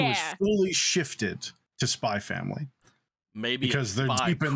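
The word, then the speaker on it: Spy × Family: And then now that it's an anime, he's like, no, it's Spy Family. You don't pronounce it.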